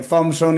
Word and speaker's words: Thompson: que además en inglés Thompson y Thompson más o menos suena exactamente igual. Sí, sí, porque la P casi no suena cuando uno lo lo pronuncia.